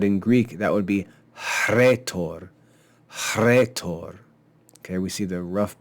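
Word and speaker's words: ῥήτωρ: the H actually though the H is pronounced before the r in Greek words in English we don't do that we just say rhetoric but in Greek that would be retor okay we see the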